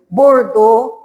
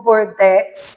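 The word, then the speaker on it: Bordeaux: Protetor escrito José, espírito protetor, bordô ou bordex, qualquer jeito de falar. Bordés também pronuncia, que é uma cidade na França.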